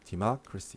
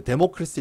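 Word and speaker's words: democracy: 사람이 정치하는 거니까 디마크라시 정치. 예. 데모크라시 이렇게 읽으면은 창피한 거예요. 알겠죠? 디마크라시 알아두시고.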